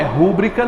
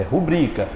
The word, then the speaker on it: rubrica: é que eu pronuncio essa próxima rubrica rubrica não é rúbrica não é rubrica rubri Qual é a mais forte é o bri nada de dizer rúbrica é rubrica por exemplo peço que